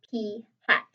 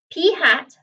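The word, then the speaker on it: p̂: represented by this symbol right here and is pronounced p hat p hat the sample proportion is equal to x over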